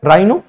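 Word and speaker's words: rhino: एच आ रहा है राइनो यहां पे भी एच क्या हो हो जाएगा साइनट हो जाएगा अब ये जो है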